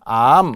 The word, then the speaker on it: 앎: 이야기처럼 리얼 미음의 암 물론 발음으로는 암 이렇게 하겠죠 발음으로는 암 이렇게 하지만 리을 다의 원형을 살려서 전미사 미음을 그대로 붙인 거예 그죠 그러니까 만약에 우리가